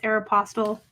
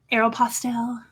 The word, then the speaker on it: Aeropostale: cool brand this Aeropostale I always say it incorrectly it's Aeropostale Aeropostale um I do what I want I'll pronounce things the way I want these are size seven